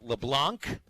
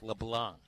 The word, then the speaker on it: LeBlanc: letting me know that the correct pronunciation of Arkansas's probable new defensive line coach is not Derek LeBlanc. Derek LeBlanc. Very good. So it's a silent C.